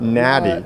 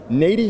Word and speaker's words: Nady: how to say the name of the company say it again so we all know na not Natty no not nauy not n not yeah you got it